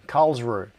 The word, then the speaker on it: Karlsruhe: in a city called I can never pronounce this, I can't get it quite right. I can't get the R right. So I'll say it the English way, Karlsruhe.